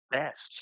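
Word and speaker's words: Beste: the first name Axton it's be t with an e on the end pronounces it best he's a junior class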